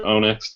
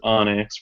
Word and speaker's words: Onyx: know me as Darren Onyx or onx depending on how you want to pronounce it I pronounce it Onyx whatever um Chandler is